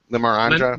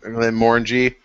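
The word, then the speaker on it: Glenmorangie: uh Glenn how you say it Glenn Morin Glen Moran Glen Mori morang Le Glen Mori Glen Mori Glen Mori there you go yeah F Jimmy to keep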